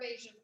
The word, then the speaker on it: Aysha: So my first name's Asia, and my mom just decided to spell it in a very unique way.